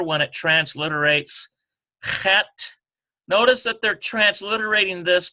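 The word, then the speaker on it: חית: One is a guttural, the other one is a very smooth H sound.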